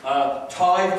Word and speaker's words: tithe: And I said, what's this tithe? He said, well, it's pronounced tithe and it's a tenth.